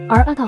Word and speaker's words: 新: 他的第一个想法是新好乖哦，后来把新的读法改成 Arata 后才觉得比较能接受。